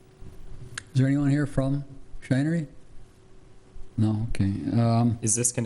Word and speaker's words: The Shinery: I presume that's how you pronounce that? Yes, Shinery?